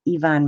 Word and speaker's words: Yvonne: And sometimes it's Y and sometimes it, it's pronounced like an E. So yes, Yvonne makes sense.